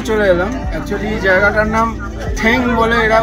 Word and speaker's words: Toong: ফর থুং চেকপোস্টে চলে এলাম actually জায়গাটার নাম ঠ্যাং বলে এরা উচ্চারণ করে তো সেইখানে এসে এখানে ফালে বলে